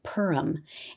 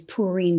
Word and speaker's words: Purim: people pronounce it like purum and that's more of an English way to pronounce it and that's totally fine too I learn it as purine because that's the traditional